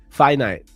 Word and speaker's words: finite: Finite. Okay. I think that's the first way I said it, but it sounded weird. Finite. Not finite. Finite. Okay. Like Wi-Fi.